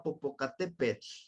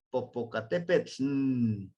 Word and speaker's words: Popocatépetl: lengua náhuatl por ejemplo la palabra Popocatépetl y pronuncian de esta manera Popocatépetl como que hacen ese sonido nasal con con la nl y no existe ninguna